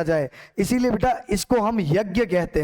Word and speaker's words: यज्ञ: यानी ज की ध्वनि ये ज लिखा जाता है यहां पर। यानी इसका मतलब यज्ञ था। हां कब वैदिक संस्कृत के समय वैदिक संस्कृत के समय इसका उच्चारण ज ही होता था।